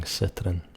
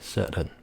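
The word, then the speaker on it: Citroën: And maybe because it's more of a proper name, you might get a few people saying Citroen. But more likely or not, it would be Citroen. T's gone.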